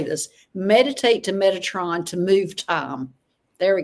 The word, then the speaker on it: Metatron: telling me how to say this meditate to Metatron to move time there we go thank you